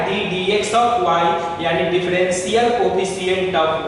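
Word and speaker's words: d/dx: यहाँ dy बाई dx नहीं पढ़ते हैं, वो गलत प्रोनाउंसिएशन है जो बिहार में हम लोग यूज कर लेते हैं, लेकिन सही प्रोनाउंसिएशन होता है d dx ऑफ y, यानी डिफरेंशियल कोफिशिएंट ऑफ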